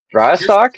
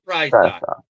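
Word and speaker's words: Prysock: Dry sock. Is that Did you say dry sock? Try. P R Y S O C K. Ephesians fry sock.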